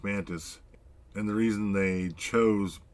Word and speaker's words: Mantix: So it's pronounced Mantis.